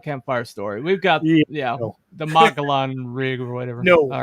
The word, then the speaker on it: Mogollon: Okay, Mogollon is pronounced Mogollon.